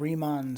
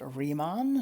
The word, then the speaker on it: Riemann: do believe that well he is german and i do believe in german this is pronounced riemann so i'm that's what